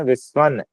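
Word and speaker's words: विश्वम्: फिर न उच्चारण विश्वम में विश्वन मा नहीं होगा विश्व जगतसु ऐसे ही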